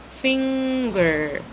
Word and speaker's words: finger: if you have noticed I said finger finger I pronounce the in sound first and then I go next to the good sound finger so mmm Mountain ring